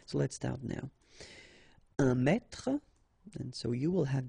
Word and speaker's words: mètre: un mètre, and so you will have the translation here. Un mètre, and then un mètre as well. Okay, so un mètre and un mètre, same pronunciation.